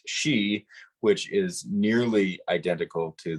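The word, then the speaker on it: sìth: in Scottsdale in Scotch in Scottish it is not pronounced Sith it is pronounced she which is nearly identical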